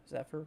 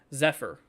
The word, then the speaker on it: Zephyr: keeping out there for is that how you say it zeper zepher maybe Zephyr like an F zepher without an well no F but you know what I mean z Zephyr um yeah Brownwood early